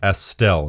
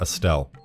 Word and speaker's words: Estelle: i pronounced it correctly i just didn't put enough emphasis on the s it's supposed to be estelle not estelle anyways estelle harris is